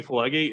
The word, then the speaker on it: Pileggi: It looks like Pileggi we're spelling, but it's I'm pronouncing it phonetically.